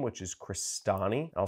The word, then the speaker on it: Crestani: click search for my last name which is christani i'll spell that out for you c-r-e-s-t-a-n-i it's italian my